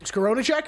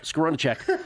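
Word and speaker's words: Skowronek: you pronounce that again scar that's your guy scaron scaron uh recovers Kelly love pronouncing that guy's name Pittsburgh set up at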